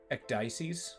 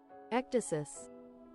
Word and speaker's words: ecdysis: The Ecdices Club. What's the EC Dices? Alright, give me a sec. Pronunciation? Ecdysis.